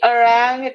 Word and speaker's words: arranged: Uh, and she arranged That is their D. That is D sound. je- Arranged. arranged, D. arranged, Arranged. Arranged. D. Da. arranged, arranged, Okay.